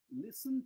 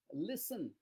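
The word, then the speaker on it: listen: আরো অন্য উদাহরণ দিচ্ছি তাহলে কি হয় পিপ লিসেন টু you more careful people দেখ উচ্চারণটা শোনো আমি বলার পরে তোমরা নিজেরা বলবে পিপল তো people লিসেন এল আই এসটি লিসেন নয় কিন্তু অনেকেই জানে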